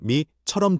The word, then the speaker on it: มี: มี 는 있다. 이 있다는 뜻. 한국어 미처럼 들림.